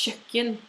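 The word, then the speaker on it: kjøkken: is a painting it's chicken kitchen now that sound that KJ sound is a very difficult sound I think it's the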